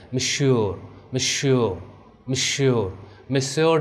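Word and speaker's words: Monsieur: You heard, अब देखिए यहाँ पे मैं प्रोनाउंसिएशन आपको बता रहा हूँ, ठीक है, ये जैसे हम इंग्लिश में सर कहते हैं तो वैसे यहाँ पे फ्रेंच में मिश्योर मिश्योर मिश्योर मिश्योर डि ट्रेवल।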